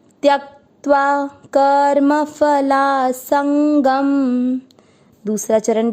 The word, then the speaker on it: त्यक्त्वा: पहला चरण, त आधा य पूरा, य के साथ आधा का त्यक, आधे त के साथ वा, त्यक्त्वा।